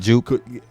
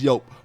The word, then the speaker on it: Joop: First of all, it's called Yope. That's how it's pronounced. I'm the hood we call it. I was about to say in the hood we call it juke. Joop. Jupe. Yeah, but it's pronounced Yope. But jupe.